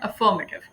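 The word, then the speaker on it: affirmative: अफर्मेटिव मैंने देसी अंग्रेजी में कहा है, एक्चुअली इसकी प्रोनाउंसिएशन है अफर्मेटिव, अफर्मेटिव, ठीक है जी।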